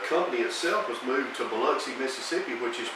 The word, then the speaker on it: Biloxi: I think I just realized that Biloxi is not spelled the way we pronounce it. It is But not. that's just it. But it's pronounced Biloxi.